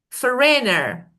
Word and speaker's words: foreigner: I say foreigner for so again the first syllable is stressed.